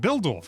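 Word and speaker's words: Bihldorff: And this comes from an interview that Zeon did um with our colleague Alana with Nate Buildorf. Am I pronouncing that correctly?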